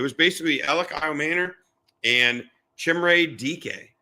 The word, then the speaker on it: Chimere Dike: I practiced that name today. Chimere Dike. I'm pretty sure I got that right because I actually brought up on Wikipedia the pronouncing.